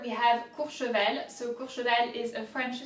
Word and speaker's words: Courchevel: Cour, so O-U is ou. Cour, remember the R's. You have to really get it from deep down as if you were upset. Cour, che, CH is sh, like sh. Cour, che, and then vel, that's easy.